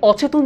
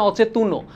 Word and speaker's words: অচেতন: বর্ণটা উচ্চারিত হয় কিন্তু এখানে অচেতন যখন বলছি আমি কিন্তু বলছি না অচেতনও অর্থাৎ অচেতন এখানেই শেষ